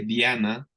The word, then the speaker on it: Diana: inglés bueno sepan que Diana bueno se escribe igual pero se pronuncia Diana Diana así como Diana